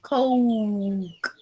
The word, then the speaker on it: Coke: Tenemos la pronunciación Coke. A can of Coke. Oiga, es como una U y una O. Coke.